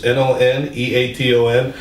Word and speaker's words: Nuneaton: Nuneaton or Nuneaton, one of the two. It's Noneaton.